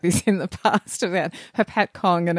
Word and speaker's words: Hopatcong: in the past about Hopatcong and how it's hard to say, and you've got to put the emphasis on the other syllable to what you expect.